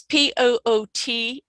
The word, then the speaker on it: Poothullil: I've forgotten how to pronounce. Yeah. And that's Poothullil, right?